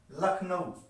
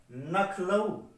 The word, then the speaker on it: लखनऊ: उदाहरण के स्वरूप में जैसे एक शब्द है लखनऊ, बाद में इसका कुछ लोग उच्चारण करते हैं नखलऊ। लखनऊ और नखलऊ।